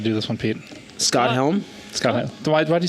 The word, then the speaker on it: Helm: Isn't it Helms with an S? Helm. Oh. Scott Helm. One Helm. Yes.